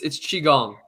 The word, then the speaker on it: Qigong: It's qigong. He's saying it wrong.